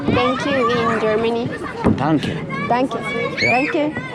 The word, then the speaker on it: Danke: Danke. Danke. Danke. Tanque. Como si dijeras tanque. Tanque de gas.